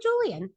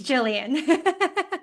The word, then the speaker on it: Jillian: I'm not a chicken, but it's Jillian. Jillian.